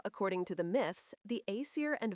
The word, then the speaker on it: Æsir: The Aesir, pronounced Aesir, are the principal gods dwelling in Asgard.